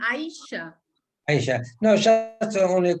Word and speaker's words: Ayesha: It's like Ayesha, no, Alvaro, it's like Asia, pero con Ayesha.